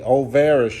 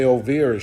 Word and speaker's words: Olvera: from Union Station is Olvera Street o-l-v-e-r-a overest Street some people might say ovira Street but it's spelled o-l-v-e-r-a what's so special about